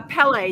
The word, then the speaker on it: Pelle: So, you have someone that you collaborate with, uh, Pelle. Did I say it correctly? Yes. Like the volcano, like Pelle, the angry god.